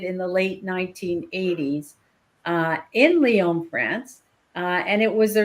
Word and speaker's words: Lyon: And the first one, I'm calling it the Lion Diet study, although I don't think it's the Lion Diet. To be honest, I think it should be pronounced Lyon because the study was actually initiated in Lyon, France.